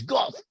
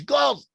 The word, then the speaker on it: Gad: that we pronounce as Gad should have been pronounced, or could alternately be pronounced, more often than not as "Goth." In other words "Goth" is a legitimate alternative for the name Gad, "Goth."